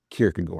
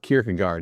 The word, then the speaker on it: Kierkegaard: That's right, I said Kirkagore because in Danish it's not pronounced Kirkagard as you probably often hear it in America.